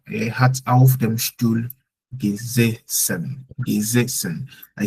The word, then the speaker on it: gesessen: ja, er hat auf dem Stuhl gesessen. Gesessen. I said gesessen because the first S stands alone, but the second S is double.